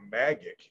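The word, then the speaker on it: MAGEC: consortium unofficially known as the magic m-a-g-e-c gang in skulls yeah the magic team pronounced that magic got it they installed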